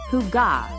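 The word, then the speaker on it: hygge: in the world the Danish concept of Higg pronounced Huga refers to a feeling of coziness and contentment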